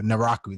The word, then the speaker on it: Naraku: mean no i always pronounce this as a name wrong or naraku there we go naraka was just an annoying